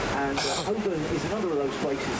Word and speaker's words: Holborn: The area up to the left-hand side is the district of Holborn, and Holborn is another of those places that's spelt strangely. It's spelled Holborn. So it looks like Holborn, but it's pronounced Holborn.